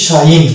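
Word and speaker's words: sign: শেষে জি এন এবং শব্দের শেষে জি এন থাকার কারণে জি এর উচ্চারণ এখানে সাইলেন্স হয়ে গেছে এবং এটাকে উচ্চারণ করছি শাইন জি কে বাদ দিয়ে যেভাবে উচ্চারণ করি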